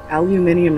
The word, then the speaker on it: aluminium: are you all set aluminum Ian aluminium is how you pronounce it it's aluminum [ __